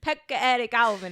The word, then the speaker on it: Pekka-Eric Auvinen: it takes mice uh the shooters name is Pekka Eric Alvin and that sounds familiar it could I just looked up the pronunciation poetic Alvin and does he have one of those crazy